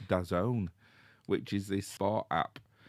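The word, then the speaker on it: DAZN: well I was c I thought it was dazzen d a zn but apparently it's pronounced dazone which is this sport app which you can log into and watch the NFL games live.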